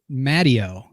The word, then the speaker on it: Matteo: My son is a redhead named Matteo, but we pronounce it Matteo because his grandfather was Sicilian. But it's just that was the family, the way we said it was Matteo, which is not the way anyone says it.